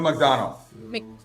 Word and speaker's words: McDonough: You have Neil how do you say his name? McDonough? Neil McDonough. McDonough? Yep. Okay.